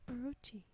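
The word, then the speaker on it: 大蛇: Japanese folklore contains many giant monster snakes called uwabami or daija. The latter can also be pronounced orochi.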